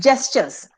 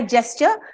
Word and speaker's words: gesture: in moderation okay next gestures what do you mean by gesture see most of the people pronounce this as gesture it is not g it's a j the spelling is G of course but it's it's pronounced